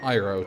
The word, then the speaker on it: Iroh: After, obviously, Iroh. Or Iroh, to say its proper pronunciation. But the movie, which doesn't exist, calls him Iroh.